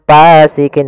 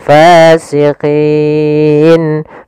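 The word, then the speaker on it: فاسقين: Hati-hati dalam melafalkan fa, harus ada nafas yang dikeluarkan karena dia sifatnya sama, jaroyanun nafas. Jangan pasikin dengan p gitu ya. Banyak yang mungkin ada yang membacanya dengan pa gitu ya, dengan p, ya, harusnya tidak dibaca dengan p.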